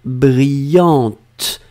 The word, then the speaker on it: brillante: J'ai bien prononcé le T, T à la fin, brillante. Vous devez marquer le E, puisque c'est la forme féminine.